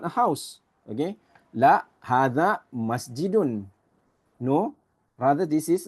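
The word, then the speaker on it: هٰذَا: Hadha, it says here, is pronounced as hadha.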